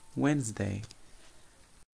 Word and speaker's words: Wednesday: if you not as you noticed we don't pronounce T we don't say within this day so we say Wednesday the next day it is Thursday Thursday okay